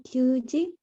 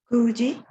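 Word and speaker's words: 九時: Gosen Kyuji. Chotamate. Hay un pequeñísimo error allí. Recuerda, el número 9 sí es Q, pero cuando está en contexto de hora cambia su pronunciación. Kuji.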